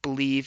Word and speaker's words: Bleav: catch the rest on believe in lions and again that's spelled b l e a v so should be a